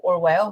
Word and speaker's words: Orwell: Então, ele vai pegar o sobrenome Orwell, ou Orwell, né, na pronúncia, né, britânica, etc., que era o rio que passava atrás da casa da família.